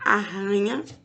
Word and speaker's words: arranha: é fraco e o som do r quando tem dois é forte leia em voz alta